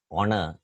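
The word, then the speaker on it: honour: a word for example we write the word honor as h po n o you are but we can see that when we pronounce this word the initial H is not sounded it's silent we pronounce this word as Honor even with words which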